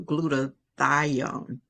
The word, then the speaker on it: glutathione: You are known as the leading expert when it comes to glutathione.